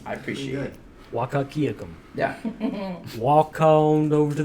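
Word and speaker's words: Wahkiakum: Wakakiakum.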